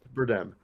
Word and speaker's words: Bardem: how you pronounce it. Bardem.